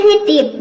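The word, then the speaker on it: deep: अगला है डीप, डीप means क्या होता है, गहरा। तो जब भी डबल ई एक साथ आता है तो इसको हम ई प्रोनाउंस करते हैं।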